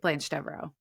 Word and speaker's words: Blanche Devereaux: that weird she in the show will say Blanche Devereaux yeah that's how she pronounces it so I I don't oh my